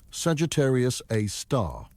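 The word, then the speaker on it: Sagittarius A*: They named it Sagittarius a star, pronounced Sagittarius, a star after the constellation where it resides.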